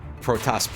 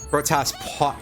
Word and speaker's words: Protoss: called, I don't remember, Protoss pylons or something. Sorry, I forgot to pronounce that O correctly. Protoss damn it.